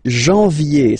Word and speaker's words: janvier: But anyway, janvier, so that's the way to pronounce it. Janvier, A-N, en, okay, and then ye, janvier. Then comes février, février.